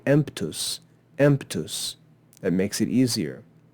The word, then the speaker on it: emptus: the ending TUS but instead of saying mtus we add a p to make it a little easier to pronounce and we say emptus emptus that makes it